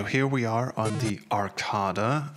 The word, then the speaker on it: Arcada: Okay, so here we are on the Arcada. I was told that this is actually how you pronounce it.